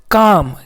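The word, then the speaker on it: calm: प् एल प्स एम तो एल का साउंड नहीं है साइलेंट है यहां पे तो देखिए सी का आधा का पढ़े ए का पूरा आ पढ़े ठीक ना दोस्तों एम का आधा मा पढ़े तो पूरा क्या मिल गया काम इसको हम लोग क्या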